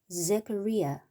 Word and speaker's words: Zechariah: 자, 여기 Z 발음이니까 Z 이렇게 읽으면 되겠죠. 그 다음에 여기 CH는 K 발음을 합니다. K 발음. 그래서 카 이렇게 하고 여기는 리아 그렇게 하면 되죠. 그럼 전체적으로 Zechariah 이렇게 읽으면 돼요.